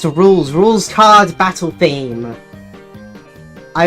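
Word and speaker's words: Rouxls: It's pronounced rules.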